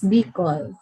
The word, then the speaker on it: Bicol: It's Bicol.